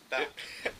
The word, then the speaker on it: Bap: And then, how do you pronounce it? Call me Bap.